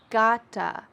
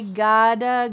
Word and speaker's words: gotta: one more time, and in American English, the T's change to a D sound. Listen when I say it. I gotta go.